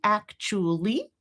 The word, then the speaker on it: actually: So we very commonly reduce this vowel oo down to schwa, down to right? So this is 2 separate things, right? One is getting rid of a syllable, actually. And the other one is, I can also reduce the vowel itself, but I've still got, in this case, 3 syllables. Actually, actually, right? So that's a choice too, as I was saying.